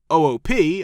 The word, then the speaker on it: OOP: and what we needed oop objectoriented programming is one of the most important terms in software development the term pronounced oop like in oops was used maybe once